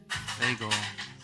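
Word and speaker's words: Fagel: lwuit today Securities lawyer Mark Bagel rhymes with bagel asserts that U us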